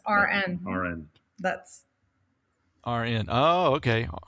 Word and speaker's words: Aren: was just gonna say it's pronounced like registered rn rn that's RN oh